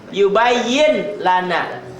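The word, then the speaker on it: يبين لنا: Yubayyin lana. Yubayyin lana. N-nya hilang tuh. Yubayyil lana. N-nya jadi L double.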